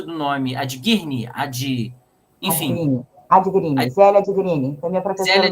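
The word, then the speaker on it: Adghirni: E, inclusive, é interessante, a professora Ilusca, me ajuda com a pronúncia do nome, Adguirne, enfim. Adguirne, Zélia Adguirne, foi minha professora no mestrado.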